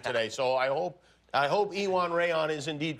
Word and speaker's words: Iwan Rheon: pronunciations of your name today, so I hope Iwan Rheon is indeed correct. Is it? I will accept that and other variations. Give us the perfect pronunciation, though. Well, I would call myself Iwan Rheon.